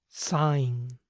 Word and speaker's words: sign: sigamos con los extras esta terminación I g n siempre se pronuncia ain ain imaginen que la G en este caso es muda A son pocas